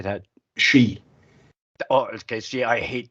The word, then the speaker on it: Sidhe: She.